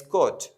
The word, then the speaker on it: could: And the next one is could. Here, the L is also difficult to be pronounced.